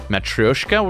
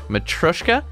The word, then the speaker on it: matryoshka: matroshka this is funny somebody corrected me actually it's matryoshka but when you say it it's like matryoshka matroshka and so if you look this up american pronunciation approaches matroshka but not matroyshka matryoshka anyway i don't know